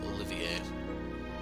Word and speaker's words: Olivier: the 9th so yeah I'm going to go with the French pronunciation of this Olivier so I think his